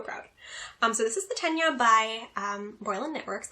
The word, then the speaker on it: Tegna: So I made, I believe it is pronounced Tenya. I've heard Tegna, I don't think that's right, Tenya, by Caitlin Hunter, Boylan Knitworks.